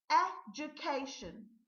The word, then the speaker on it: education: The number 7 word is education. Education. And not mindful, be mindful of the syllable is j and not do.